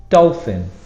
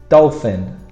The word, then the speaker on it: dolphin: Dolphin, the problem here is in the middle, P-H for a F sound.